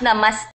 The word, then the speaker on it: Namaste: we are It's pronounced Namaste, like T-E. Namaste.